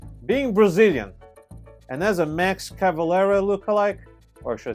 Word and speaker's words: Max Cavalera: to people because being Brazilian and as a Max cavalera look alike or should I say Max cavalera to say his name properly it's time for